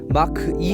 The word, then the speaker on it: Mach: 오늘은 야외에 나와서 포드 머스탱 마하 2, 보통 미국 사람들은 마크라고 하죠. 마크 2 해서 마키라고 발음하는 포드 머스탱 마하 2를 리뷰하러 나왔습니다.